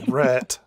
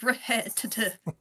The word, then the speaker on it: Rhett: Get ready for Rhett. No, not Red. That's not how you pronounce my name and you know it.